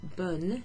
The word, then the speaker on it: bonne: And the reason bonne is pronounced bonne in bonne nuit, where you have that N sound, and sometimes you even hear the E at the end, bonne nuit, is because it's spelled B-O-N-N-E.